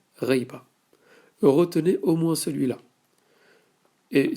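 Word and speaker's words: غيبة: Le mot absence, en arabe, c'est le mot reiba. Et ça tombe bien parce qu'il se prononce comme on l'écrit en phonétique. Absence, en arabe, on le dit reiba.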